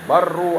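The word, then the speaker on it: بروا: Kalau Walid dulu bacanya bukan birru, yang benar barru abaakum.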